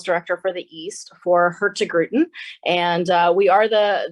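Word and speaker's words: Hurtigruten: I'll say that one more time very slowly her to grew 10. so everybody can practice that at home and and be able to to pronounce that like a like a Norwegian expert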